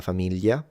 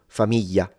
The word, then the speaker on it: famiglia: But in the south, this is simplified into a Y. So like in Sicily and in Naples, it will just become y. And so famiglia, figlio, figlia. And in the north, there are some people sometimes that simplify it into an L. And they will say familia, filio, filia.